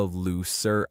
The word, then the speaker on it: looser: I am saying looser with an S sound, which is an adjective meaning less tight. It's important not to confuse this with the noun loser, which has a Z sound and means a person who failed to win. So, looser means less tight,